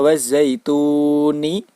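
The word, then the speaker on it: والزيتون: Maka pada kata wazzaituni, tuni itu dinamakan dengan bacaan mad arid lisukun. Cara membacanya yaitu dibaca panjang antara 4-5 harokat.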